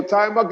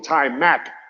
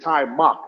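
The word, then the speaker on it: Taimak: So Timok is my best friend, even though people call him Ty Mac, but it's Timok.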